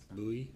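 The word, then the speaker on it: Bui: Last name is B-U-I, Bowie, how do you say it? Bowie.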